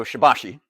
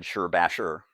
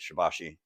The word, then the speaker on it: Shibashi: So, Shabbashi, or as I said, Sherbasher. Uh, some people say that's the pronunciation. As I always like to point out, I've always heard it referred to as Shabbashi um when I've ran across it out in